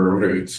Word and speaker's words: Roet: Roet. And I noticed you rolled the R on the first pronunciation and then rolled right back into the straight American.